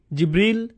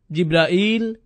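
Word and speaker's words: جبريل: জিব্রিল, জিব্রাইল, জিব্রাইল, জিব্রাইল, জিব্রিল, এই 5 ভাবে তার নাম উচ্চারণ করা হয়।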